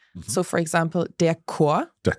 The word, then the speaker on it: Chor: There are some words where you pronounce it as a K. Mhm. So, for example, der Chor, Der Chor, the choir.